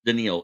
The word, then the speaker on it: Danielle: hunter or Danielle as it spelled but it's pronounced denil it's Danielle Hunter he wants to get paid like he's